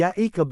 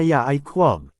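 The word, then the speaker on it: יעקב: Kaya makikita dito na ang isinalin sa English na Jacob ay yaikakab ang bigkas sa Hebrew at Greek. Hindi gaya ng sinasabi sa lash aan quadish na ya qu.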